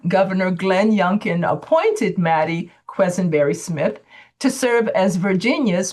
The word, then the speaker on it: Quesenberry: Now, please confirm, am I pronouncing your name properly, Quisenberry? Yes, that's it. Quisenberry.